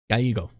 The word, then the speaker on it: Gallego: Yeah, so Ruben Gallego. Ruben Gallego. Pretty sure it's supposed to be pronounced as a Y. Yeah, Gallego.